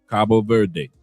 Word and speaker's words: Cabo Verde: Cabo Verde. Shut your mouth. How you pronounce it? Cabo Verde or Cabo V with no D, no E.